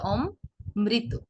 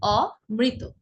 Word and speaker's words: অমৃত: আপনি যখন বলছেন অমৃত তখন ম 2 বার আসছে, অম মৃত, তাই না? প্রথমে আসছে অম, তারপর মৃত। উচ্চারণটি কিন্তু এমন নয়, অম মৃত নয়, এর উচ্চারণ হবে অমৃত।